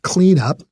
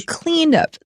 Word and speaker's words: cleanup: A beach cleanup, it just means to clean the beach. 然后是 clean up. Shane 老师是念 clean up，它的重音在第一个音节，因为它现在变名词了。它不会念成 clean up。Clean up, 要小心.